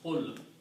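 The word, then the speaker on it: قُلْ: So what we do, you remove the you from here, you remove ta from there, and waw is a weak letter, you don't pronounce, so it becomes qul.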